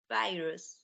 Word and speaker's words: virus: word in blue here virus virus virus good virus it's got a long I sound in it virus excellent okay are